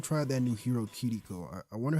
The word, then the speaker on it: Kiriko: But him, a lot of people just call her Kiriko. He called her Kiriko. So he's pronouncing the R in the name with the same kind of pronunciation that they would have in Japan, essentially.